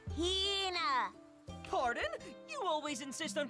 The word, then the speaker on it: Hina: And this young lady is my traveling companion, the esteemed archaeologist, Fina. You keep saying it wrong. It's Hina. Hina.